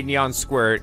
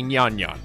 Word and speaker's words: Nyan Nyan: It's not Cafe Neon Squirt, it's Cafe Nyan Nyan. So that said, all right, I feel like that my pronunciation for that was justified, all right? Because that is literally what it says in mathematical terms is Neon Squared. But it's pronounced Nyan Nyan.